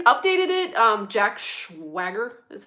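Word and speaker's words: Schwager: was the'80s he's updated it um Jack SW Swagger is how you say his name it's it's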